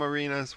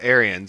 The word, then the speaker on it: Arians: Is his name Arenas? What is it? Arian? I don't know how you pronounce it. Arians? That's the Bucks. Yeah, Arians.